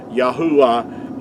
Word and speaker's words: Yahuah: they had these words letters had to be pronounced making vowel sounds yahuwah is the way that our creators name is